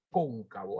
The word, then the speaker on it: cóncavo: el polígono polígono convexo y polígono con bombas cóncavo así se pronuncia con un cabo ya polígono convexo o